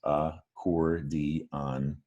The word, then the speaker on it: accordion: But accordion doesn't start with an ah sound. It starts with an That's a short U sound.